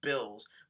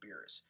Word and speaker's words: Beerus: Like when I saw this episode, I thought they were gonna pronounce him as Bills, but it seems like the translators really wanted to call him Beerus, and it seems like everyone wants to call him Beerus too, because like what the